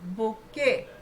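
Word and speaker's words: bouquet: अब ये जो बुके वर्ड है ना ये सब लोग ध्यान से देखो। बी ओ इसमें यू जो है वो भी साइलेंट है। क्यू तो है बुक के फिर से यू साइलेंट है। और ई चलता है टी फिर से साइलेंट है। तो बेसिकली क्या हमने इसको पढ़ना है? बी ओ क्यू ई बुके बुके बोलना है इसको।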